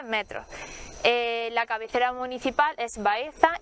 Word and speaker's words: Baeza: edad moderna es Baeza, la C con cedilla, que tiene digamos, esa pronunciación tan especial que todavía muchos de nuestros ciudadanos la mantienen, el seseo, Baeza, pues era Baeza con C con cedilla,